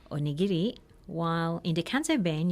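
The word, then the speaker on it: おにぎり: a good one and in standard Japanese the accent is on the knee but in the cancer vein the accent is on the geek so instead of Japanese you'd say onigiri while in the cancer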